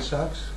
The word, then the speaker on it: Sachs: y él es Kurt Sachs, que vivió un poco antes. Kurt se escribe con C, Sachs, como con CH.